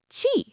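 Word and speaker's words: ち: Chi, not T. It's chi like cheese.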